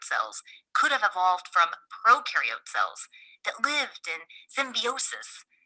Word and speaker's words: prokaryote: Prokaryote symbiosis means these organisms live together. So, just to recap from our Intro to Cells video, when you think of prokaryote, think of pro rhyming with no, no nucleus, no membrane bound organelles.